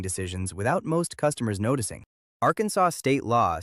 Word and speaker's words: Arkansas: Arkansas state law says the name must be pronounced Arkansas and not Arkansas. The resolution passed in 1881 stated that the correct pronunciation followed the traditional usage inherited from the French and based on the